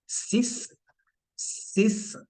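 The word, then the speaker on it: six: फर सिक्स व have स सिस लिखा सेम जाएगा जैसे हम इंग्लिश में लिखते हैं but sound is नॉट सिक्स इट इज सिस एंड for seven the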